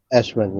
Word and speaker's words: Ashwin: So if it's your listing, Ashlyn, is it Ashwin? Eh? Am I pronouncing it right? Ashwin. Ashwin, yes. Okay, Ashwin, cool.